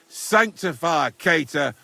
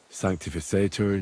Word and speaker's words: sanctificetur: You're saying it wrong. Listen. It goes like this. Pater Noster, qui es in celis, sanctificetur nomen tuum.